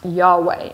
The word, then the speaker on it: Yahweh: am is my name usually it's pronounced yahweh in hebrew now the name of